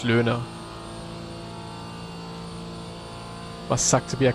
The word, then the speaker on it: Loehner: Uh, in German, in Germany, I would say Luna. That's how I would say my name. We have one left, but I guess for English speakaking people, learner or something like that is fine. But yeah, German would be Luna.